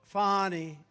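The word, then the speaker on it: Fani: right has anybody fonnie it's pronounced fonnie F A ni I that's Fanny but you likes it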